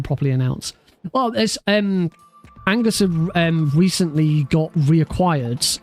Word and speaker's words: Oengus: forever but it's not it's not pronounced oengus it's pronounced Angus I didn't know this